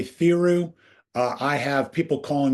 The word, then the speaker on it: Theroux: And it's pronounced thorough. Is that right? I'll go with thorough. I would say theoru.